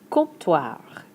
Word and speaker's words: comptoir: Le comptoir Comp-toir. Don't do much with that "P" in the middle.